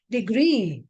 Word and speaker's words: degree: That is, words ending with double E and double O take stress on the last syllable.